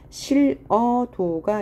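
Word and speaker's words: 싫어도: 히읗 다음에 모음으로 시작하는 형태소가 올 때는 히읗이 탈락하죠. 예를 들면 실어도가 있어요. 그러면 히읗을 탈락하고 어도가 되는데 연음하여 실어도가 되는 경우죠.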